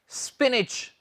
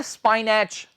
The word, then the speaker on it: spinach: है students SPINACH जी, इसका उच्चारण है स्पिनिच जी। क्या कहा, स्पिनिच। इसमें ये जो CH है, इससे हम च की साउंड निकालेंगे, और ये नहीं है स्पाइनैच, ये है स्पिनिच, स्पिनिच।